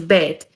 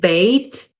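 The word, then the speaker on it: בית: list as well well the letter is almost universally pronounced as bet there are variations on the pronunciation of the letter's name according to some ashkenazic pronunciation for example it would either be pronounced bait or base it is one of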